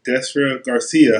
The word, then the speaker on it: Destra Garcia: listen some our interviews I'm now politicking with desra Garcia how you doing hi I'm fine good I